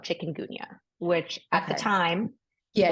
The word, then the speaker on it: chikungunya: It's called Chikun Gunya. Yes. It is not spelled like chicken the animal.